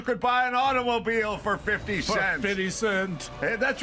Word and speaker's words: 50 Cent: Don, it's 50 cent. Not you keep saying 50 cents. I can't say 50. When I was a lad, you could buy an automobile for 50 cents.